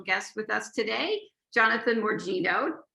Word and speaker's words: Morgigno: I have a very special guest with us today, Jonathan Morgigno, right? Did I pronounce it right?